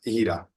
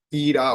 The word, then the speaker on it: Hira: damita que se llamaba hira ira o hira dependiendo la pronunciación que quiera utilizar Bueno vamos a a